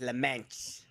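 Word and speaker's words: Le Mans: Laman Laman listen listen the proper way to say is Lan that's the proper way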